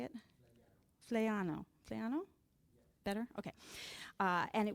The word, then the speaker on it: Flaiano: Flaiano.